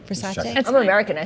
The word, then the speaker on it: Versace: You may know it as Versace, after agreeing to a price of nearly $1.6 billion. So, what's it called? Versace. Versace? Did I say it wrong? Versace?